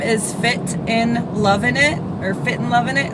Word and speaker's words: Fitnlovinit: My name is Fitnlovinit, or Fitnlovinit is how you say it. There's no, it's not and, it's in.